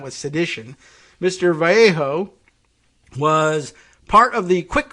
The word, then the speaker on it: Vallejo: Rhodes prosecutors charged Edward Vallejo v-a-l-l-e-j-o I'm giving it the S Spanglish pronunciation uh himself 63 of